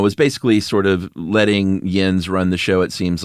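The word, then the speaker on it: Jens: Is it pronounced Yins? It's definitely Yens, but it's also Jeb and not Yeb.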